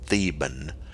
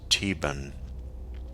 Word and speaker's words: Theban: this should be called theban however in our case the h is silent and this comes from the german language this uh this term